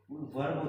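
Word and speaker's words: verb: बाद क्या होता है, वर्ब होती है। क्या बोलोगे इसको, वर्ब या वर्ब? दरअसल ये वर्ब बोला जाएगा भाई, आर यहाँ पर साइलेंट रहेगा।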